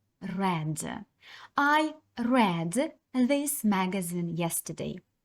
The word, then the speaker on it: read: не зміниться нічого проте коли ви вимовляєте це слово то воно вже буде вимовлятися по-іншому а саме read I read this magazine